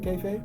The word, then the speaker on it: kayfabe: Yeah, so like, because you were talking a little bit about drawing from inspirations to develop your kayfabe. That's how you pronounce the word?